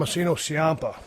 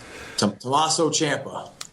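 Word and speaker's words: Tommaso Ciampa: who it's against Johnny Gargano and Thomas Tom Thomasinoa Tomaso Champa. Tomaso Sia. I'm sorry to get his name wrong.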